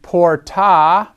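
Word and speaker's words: portā: object of the sentence and porta that would be a long a there by with or from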